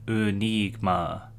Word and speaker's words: ənígmə: It's spelt with two schwas, which are pronounced I think, and it also has an acute I in the middle. I'm not very linguistically talented, but this makes the pronunciation Enigma, I think.